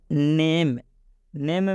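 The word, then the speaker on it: name: जैसे में नेम में ए आया है, और रूल क्या है कि यदि ए के बाद कोई कॉन्सोनेंट आए और लास्ट में ई आता है तो इस ई का उच्चारण नहीं करेंगे। और ये जो ए है, इस ए का उच्चारण ए की मात्रा से होगा।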